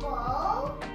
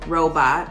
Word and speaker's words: Rowell: Robo? Not Robo? Oh, it's just Robot, okay.